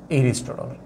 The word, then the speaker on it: এরিস্টটল: এরিস্টটল। এরিস্টটল। হ্যা। রাষ্ট্রবিজ্ঞানের জনক। জনক কে? এটাকে এরিস্টটল হিসেবে এভাবে লিখো। হ্যাঁ তোমরা ওভাবে লিখিও না এ দিয়ে লিখেও না কারণ এই উচ্চারণটা এরকম এরিস্টোটল এই এরিস্টোটল তার দা